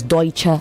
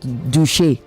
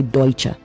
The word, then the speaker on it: Deutsche: It is Deutsche Bank, not Duchi. Deutsche. Okay. Deutsche Bank. It's a It's a German word. So you say Deutsche, not Duche.